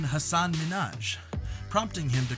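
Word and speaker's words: Hasan Minhaj: seconds into the interview he pronounced it as hassan minaj rather than hassan minaj prompting him to correct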